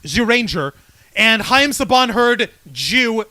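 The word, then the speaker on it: Zyuranger: Morphin Power Rangers with the Dino Rangers it's pronounced zuranger and Haim Saban heard Jew Ranger it's like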